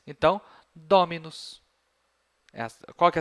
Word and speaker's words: dominus: Eu não vou falar dominus. Tá? Como a penúltima sílaba tem bráquia, a tônica é a que está antes. Então, dominus.